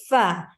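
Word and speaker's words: ف: It is also going to be with the F sound. Fa. Whenever we pronounce the letter F or the letter fa, the very corners, the tips of our first 2 teeth are going to be touching with the lower lip inwards. That is the wedge part of our lips.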